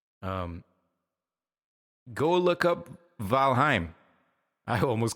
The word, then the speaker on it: Valheim: this game uh valheim not going to lie to you I was mispronouncing that and I actually trained my buddies to mispronounce that uh by mistake every now we all call it valheim which is totally wrong it's called valheim right cuzz it's Nordic and finish and whatnot